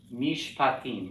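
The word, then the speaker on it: משפטים: So mish pa tim. Okay, so I created this new closed syllable.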